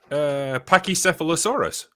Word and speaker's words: Pachycephalosaurus: Pachycephalosaurus. Okay, you got it right. Fuck you. It's often the one that people pronounce incorrectly, though.